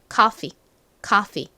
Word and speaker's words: coffee: C는 기역 소리, 그리고 O는 미국식으로는 살짝 I에 가깝게 발음이 되지만 그냥 한국식으로 어로 발음하셔도 괜찮습니다.